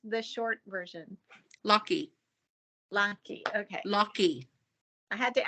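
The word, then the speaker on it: Lockie: Lachlan right yep and then how do you pronounce the short version Lucky okay lucky I had to ask because I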